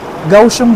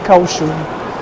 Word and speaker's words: Kaohsiung: Ay narinig narinig namin doun sa may ano elevator gausum daw yung ano pronunciation. Hindi causum gausum parang letter G.